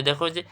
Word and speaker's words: দক্ষ: হসন্ত দিতে হয় এরপরে দক্ষ এটা তোমরা পারবা কিন্তু দেখ আমি বলছি যুক্ত যখন থাকবে ওখানে কি ক খ আছে ক এবং কি আছে খ আছে তাইলে এখানে কি হবে বল দক্ষর কি হবে দখ দখ এই যুক্ত থাকলে ক খ থাকে তার এবার আস যে